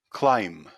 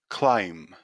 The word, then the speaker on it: climb: at the first words the first silent letter is b here are the four words bomb bomb climb climb death death lamb lamb moving